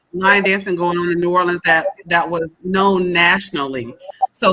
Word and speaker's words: New Orleans: to see his city and enjoy Nolans, as he says it. All right, I probably can't say it like he says it, but to enjoy New Orleans.